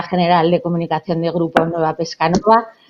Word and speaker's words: Nueva Pescanova: Ella es directora general de comunicación de Grupo Nueva Pescanova. Con el acento en Nueva, pues Tessa se incorporó